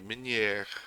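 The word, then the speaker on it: meunière: It's not supposed to be that pronounced. It's supposed to be Minier. It's like a soft one at the end.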